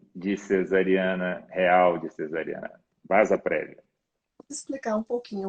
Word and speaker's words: vasa prévia: prévia, e se escreve vasa prévia, mas a pronúncia é vasa prévia.